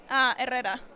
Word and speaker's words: Herrera: Herrera.